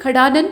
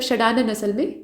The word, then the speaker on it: षडानन: तो लिखा है खोडशी, खडानन, मतलब षडानन असल में, यहाँ ख नहीं उच्चारण करेंगे।